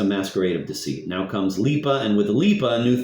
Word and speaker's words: Lipa: This is the transition to the main character of the story, the girl Lipa, pronounced Lipa.